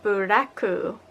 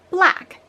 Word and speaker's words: Black: So first off, we have Buraku, or more accurately pronounced, Black.